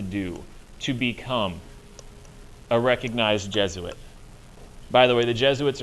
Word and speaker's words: Jesuit: get the pronunciation because looking at that word you might think it's J sweets or J suits or something like that it's not it's Jesuit Jesuits are uber priests